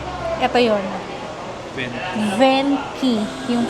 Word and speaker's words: Venchi: Venky Venki ang pronunciation sa pagal yung CS K. Ito yun Venki yung pronunciation.